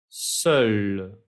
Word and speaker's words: seul: Seul, seul, es una E cerrada, seul.